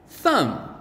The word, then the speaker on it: thumb: know at the end must be m b thumb nice and easy can you spell two more